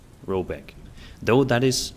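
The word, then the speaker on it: Råbäck: hargong in question is to be called OPEC pronounced something like roebek though that is not its name it is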